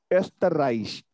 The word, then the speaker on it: Österreich: Österreich. Österreich is Austria. Österreich. Österreich. Österreich. Österreich. Österreich.